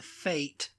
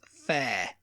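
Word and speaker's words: fête: Okay, just finish, and then we'll fate versus fair. Yeah, it's basically a fair. Mm-hmm. And it's similar to affairs over here, But it's spelled Fete.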